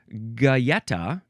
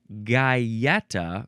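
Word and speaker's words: galleta: Next, we have Getta or gaetta, which is a very slightly only a tiny little difference in the pronunciation there.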